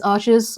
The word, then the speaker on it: Arches: And there's arches or arche, however you want to pronounce it, down the end of that aisle.